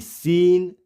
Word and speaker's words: scene: Silent होगा। देखिए, LOCK lock, BLOCK block, ACQUIT equity, ACQUIESCE aqueous, SCENE सीन, यहाँ पे साइंस, डिसिपल एंड मसल्स।